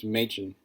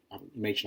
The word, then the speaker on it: Machen: And the figure I chose to kind of do some research on and dig into was John Machen, or Machen, I believe is how you pronounce his name.